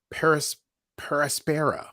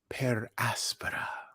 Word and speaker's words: per aspera: 2 entitled at Astra they pronounce it Paris paraspera which I think is terrible at Astra per aspara is how I would say it but indeed I'm not on the show whatever uh I don't